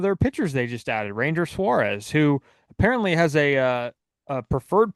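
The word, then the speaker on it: Ranger Suárez: We do know where they're going with their one of their pitchers they just added, Ranger Suarez, who apparently has a preferred pronunciation on his first name as Ranger Suarez.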